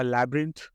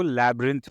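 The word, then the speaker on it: labyrinth: They found a लैब्रिंथ of tunnels under the ground, इसको लैब्रिंथ पढ़ते हैं, लिखा हुआ है लेबी रिंथ, लेकिन वैसे पढ़ते नहीं, लैब्रिंथ, वाई साइलेंट रहेगा, लैब रिंथ, वाई को आप मत प्रोनाउंस करना।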